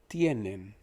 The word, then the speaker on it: tienen: Tienen, think of Tiananmen Square. Nen is men, but just pronounced with an N in front of it, so tienen.